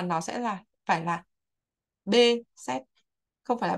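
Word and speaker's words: Behçet: bị bắt xê các thầy cô hay gọi Pepsi Nhưng mà không phải đó không phải là cái phát âm đúng hoặc là cái phát âm bằng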